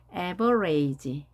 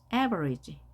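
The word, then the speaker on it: average: 이렇게 발음을 하셔야 되겠습니다 everage이 단어를 처음 봤을 때 여러분들은 어떻게 읽을 수 있을까요 everage 이렇게 하지 않았을까요 끝에 2가 있으니까 앞에 a를 읽어야 되지 에버레이지 그렇게 하지 않고요 강세가 이미 크게 정해진 모음이 결정되면 나머지는 모두 소리가 약하게 발음이 됩니다 everage everage 평균이란 뜻이죠 평균 발음이 안 되는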